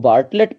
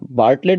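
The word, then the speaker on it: Bartlett: late झाल है कि उनको बाहर लड़ता हूं आप उनको बार्टलेट पर सकते हो ठीक पहले वाला थी साइलेंट रखता हूं इसमें बार्टलेट भी पढ़ सकते को दिक्कत नहीं 1962 में निर्भर लेट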